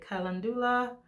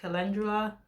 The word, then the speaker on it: calendula: The olive oil that I use is infused with calendula. Some people may pronounce it calendula, but I pronounce it calendula.